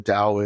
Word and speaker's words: Tao: audience who don't know what the Dao is it's spelled t-a-o and I'm going to